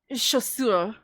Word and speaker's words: chaussure: Anytime you see a CH sound, it is actually pronounced like SH. So like when you say the word for shoes is chaussure, and it's spelled with